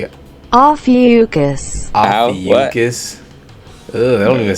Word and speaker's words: Ophiuchus: The way my coworker pronounced this is "oh fuck us."